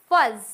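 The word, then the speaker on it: fuzz: letter के जैसे पढ़ेंगे फॉर एग्जांपल फज डबल जड है बट फिर भी हम इसको क्या पढ़ेंगे सिंगल ज के जैसे पढ़ेंगे फज बलेश अकर फ्लफ तो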